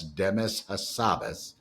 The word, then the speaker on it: Demis Hassabis: Demis Hassabis, phonetically that's Demis Hassabis, has run Google's AI research division, called DeepMind,